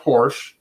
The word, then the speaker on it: Porsche: don't be a California Porsche is word it's two syllables okay it's not Porsche Porsche yeah because it's like